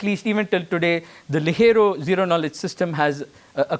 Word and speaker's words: Ligero: Sorry, Ligero, it's Spanish.